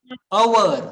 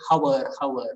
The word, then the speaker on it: hour: Hour. Okay. Hour. Some of us has the habit to say hour. Okay. So that's not the correct pronunciation.